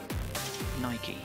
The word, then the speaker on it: Nike: But it's not supposed to rhyme with bike. It's a Greek word. It's a Greek name. The goddess of victory. Nike.